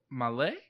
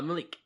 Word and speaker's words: Malek: Remy Malek? Is that how you say his name? The guy that just played Freddie Mercury in Bohemian Rhapsody. Oh, Malik. Malik.